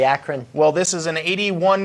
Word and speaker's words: Akron: coming out of from archon Ohio or Acron I don't know how to pronounce it Akron Ohio it would be Akron well this is an